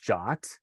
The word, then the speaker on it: JWT: other pieces of software it's actually pronounced jot according to standard the ietf made the rules not um not making